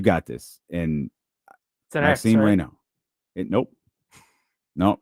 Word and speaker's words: Raynaud: But I believe it's Maxine Reno.